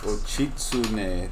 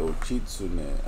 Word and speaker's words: Uchitsune: Oh, the story of Uchitsune awaits. Uchitsune, that's how you say it. Uchitsune. I mean, I was trying to pronounce it the other video, and like, I wasn't even trying.